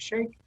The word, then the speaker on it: Sheikh: us a little bit about who is Sheikh? And I hope I'm pronouncing your last name right. Is it Sheikh?